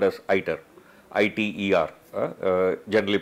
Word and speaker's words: ITER: This attempt, which is happening in France, the project is called as ITER, I-T-E-R, generally pronounced as ITER, euphemistically is called as miniature